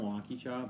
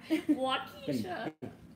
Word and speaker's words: Waukesha: You say Waukesha? Yeah. Why do you just say it like that? Waukesha, sorry. It's like a suburb of Milwaukee. It's like you forgot. Waukesha. A lot of people say it Waukesha.